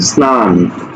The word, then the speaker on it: স্নান: দন্তন্য ন আছে অর্থাৎ স এর সাথে ন যুক্ত আছে সুতরাং এটার উচ্চারণ স্নান হবে স্নান স্নান হবে দেখো বস্তা